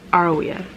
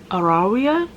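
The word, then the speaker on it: Arawiya: here's my problem my instinct is to say aroea right but when hofsta pronounce it pronounces it it's arawia it's the we hunt the flame candle one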